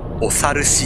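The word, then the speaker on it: 長流枝: これね、長い流れに枝って書いてね、お猿しって読むらしいです。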